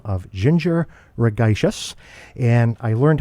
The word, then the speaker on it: Ragaishis: the name of Ginger Ragaishis, and I learned how to pronounce your last name, Ginger, through your website. You said that it is synonymous with tedacious, so I hope I got your last name pronunciation correct.